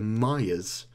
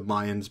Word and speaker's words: Mayans: Mayan's fault this lady was calling it The Myers like like the N like you don't pronounce the N there but I'm going to call it the Mayans because uh that's probably the proper way of